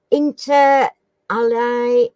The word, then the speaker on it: inter alia: What does the Latin phrase inter alia mean? Inter alia. I'll spell it.